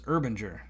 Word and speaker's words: Urbanger: So I believe what I said was Urbanger. That makes sense. Okay. Urbanger. And the reason I said that is because Herb.